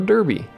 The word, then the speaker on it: Derby: So now I own Germany now owns part of England, known as Derby. Or Derby, if you want to pronounce it properly.